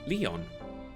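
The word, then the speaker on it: 理御: 理科の理に魚する It の is 理 written オン as と読みま well, す pronounced Leon.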